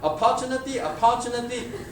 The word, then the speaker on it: opportunity: A lot of people tonight, opportunity. So learn how to enunciate the word properly. It's a third syllable stress.